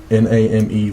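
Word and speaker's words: Nahmay: And then Name, Elder Name, Name with a little apostrophe over it. I'm going to spell it Sound like from, like, Dragon Ball Z.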